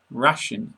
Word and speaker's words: ration: Ration never rhymes with nation.